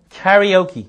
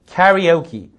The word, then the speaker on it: karaoke: 가라오케란 말인데요. 영어 발음 karaoke 해보세요. karaoke, karaoke 그렇게 하시면 되겠습니다.